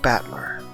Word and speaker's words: Battler: The problem is my given name is made of the characters for fight in person, and it's pronounced Battler.